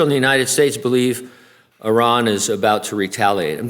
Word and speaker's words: Iran: to pronounce that correctly you know it's Iran right is that I always like to say Iran yeah that's CU I'm a crazy American but anyway it's Iran